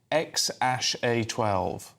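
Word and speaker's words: X Æ A-12: You know, this his song is called It's pronounced X ash A12.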